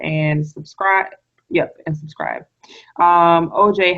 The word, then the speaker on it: Ojai: Well, my Facebook name is just my name, OJ. It's OJAI, like Ojai, like the place in California.